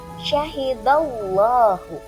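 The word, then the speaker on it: شهد الله: dibaca tafhim atau tebal ketika huruf sebelumnya itu berharakat fathah atau domah Nah di sini teman-teman Bu punya contoh syahidallahu di sana ada huruf Dal atau huruf da yang berharakat fathah maka dibacanya agak te dibacanya tebal dan rongga mulut kita agak maju syahidallahu Dorong ke depan syahidallah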